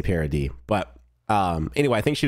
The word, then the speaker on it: Paradis: while they were on Parody or do you say Parody? That's how they say it in the show, but I've heard people say Paradis or something like that.